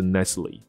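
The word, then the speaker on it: Nestlé: 可能是，这就是雀巢那个牌子，它的发音是 Nestle 这样子。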